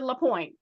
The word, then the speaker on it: LaPoint: It's actually LaPoint, just like it says. LaPoint, okay.